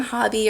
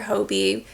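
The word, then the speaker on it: Hobbii: I had ordered it from Hobby or Hobie. I've heard it pronounced both ways.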